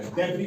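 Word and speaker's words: debris: यहां भी S last में साइलेंट रहेगा। डेबरी पढ़ते हैं इसको।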